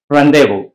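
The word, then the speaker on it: rendezvous: इसमें ये है कि ये जेड जो है ये साइलेंट है, रेंडेवो, रेंडेवो, राइट। सो इसमें जो जेड का जो प्रोनाउंसिएशन है ये साइलेंट है, ये नहीं बोला जाता, जेड नहीं बोला जाता और जेड इसमें silent.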